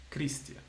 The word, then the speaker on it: Christian: Okay, so as you could see, the H will never have a sound unless it's after a C, where then, yes, it will change the pronunciation. Like my name, for example. My name is CHR, Christian.